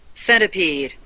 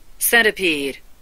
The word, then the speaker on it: centipede: Centipede, centipede. 미국식이기 때문에 T가 약화되죠. 영국식은 Centipede, centipede.